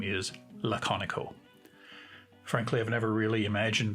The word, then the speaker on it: Laconico: as an aside yes that is how you pronounce his name laconico i've heard people speculating whether it was pronounced some other way such as lakkaniko but you can find a youtube video where